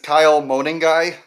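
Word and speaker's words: Kyle Monangai: So, my my fake is Kyle Moaning Guy. Uh, yes, that is how you pronounce his name.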